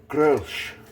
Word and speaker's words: Grolsch: here's another product review this is grosh if you want to pronounce it correctly oh maybe they've red